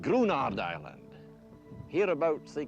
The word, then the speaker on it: Gruinard: It's pronounced Gruinard, by the way, which I had to look up because nothing about Scottish Gaelic spelling is intuitive.